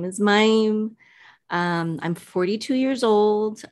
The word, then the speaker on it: Mayim: much for having me so my name is mime um it's kind of hard to pronounce um so my name is mime um i'm 42 years old um i have